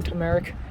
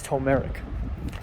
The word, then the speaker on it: turmeric: But at some point, Leia also joked around saying turmeric, and Birkin kept on mispronouncing turmeric, it's turmeric. And so I played along like turmeric.